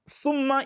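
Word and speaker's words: ثم: will change the meaning, because thumma is then, that is thereafter, but the word summu by sin means poison.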